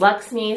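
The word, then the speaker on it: LXMI: brand LX mi and I read that it's pronounced Lux me so that's how I'm saying it and this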